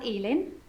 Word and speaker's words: Elin: Okay, so it's pronounced Elin, is it? Okay, lovely. Got some notes here. Sorry for writing in your notes. Say hello to Ellen for me, or Elin for me, and let her know